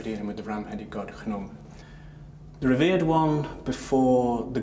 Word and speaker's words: Khnum: This jug here spells out the sound khenem. And that's the sounds in the name of the god Khnum. Khnum in Egyptian art was represented as a ram.